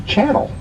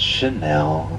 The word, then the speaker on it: Chanel: of them that's easy Channel look at the beers the diamonds on the right I know it's Chanel okay my bad cier yes